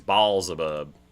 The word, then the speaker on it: Baalzebub: Oh, because he's Baalzebub Yeah, it's in D&D. Beelzebub with an L, I think. In Beelzebub. typically it's Beel, but in D&D it's Baal.